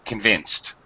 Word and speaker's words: convinced: it's disgusted by something also pronunciation convinced here it has an S type ending the C has an S sound so it the e DS pronounced as a T sound convinced yes okay alright absolutely